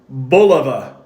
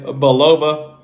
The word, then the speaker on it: Bulova: watches this is from boliva or Bova however you wish to pronounce it uh but I typically say balova Bova of course was